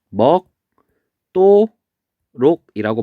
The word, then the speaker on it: 먹도록: 얘는 발음하면 먹도록이라고 발음이 돼요. 그럼 얘는 마찬가지로 앞에 음절의 받침이 기역, 그리고 뒤에는 디귿 돼 있죠? 그래서 얘는 디귿이 뭘로 바뀌냐면 쌍디귿으로 바뀌어요. 이렇게.